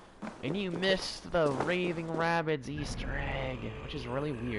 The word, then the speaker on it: Rabbids: Why is there rabbits here? I know they're made by Ubisoft. Rabbids. Raging Rabbids. No, it's not rabbit, it's actually rabbids.